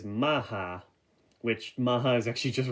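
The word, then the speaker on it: Mach: If you're an English speaker, you would say his name as Mock, but I do believe the gun says Maha, which Maha is actually just really fun to pronounce for some reason.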